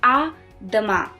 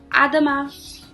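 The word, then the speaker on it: à demain: salutation over there it's a dhamma again over here the n is not pronounced it's all silent so it's a dhamma which specifically means see you tomorrow so adama and in the end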